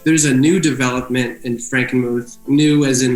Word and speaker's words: Frankenmuth: It was how do you pronounce it? Yeah, Frankenmuth? Or Frankenmuth? Frankenmuth, yeah.